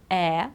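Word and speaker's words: heir: not how it's our then we've got honor honest air otherwise it'll be hair it's not the same thing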